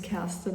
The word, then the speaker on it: Kerstin: Um my name is Casten. As I said, I think a lot of non-German speaking people can pronounce it that well.